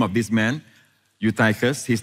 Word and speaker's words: Eutychus: It's pronounced as Eutychus. I know some of you say Eutychus, but actually it's Eutychus, who was sinking into a deep sleep.